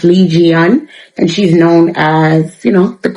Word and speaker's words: 이지은: I think her real name is pronounced Lee Jian, and she's known as, the queen of K-pop, right?